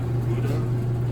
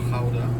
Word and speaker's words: Gouda: Then you go down here, you got Gouda, or Gouda, as it's pronounced in Dutch.